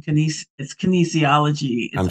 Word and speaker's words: kinesiology: And so my degree, even though it's in kinesiology. I butchered it.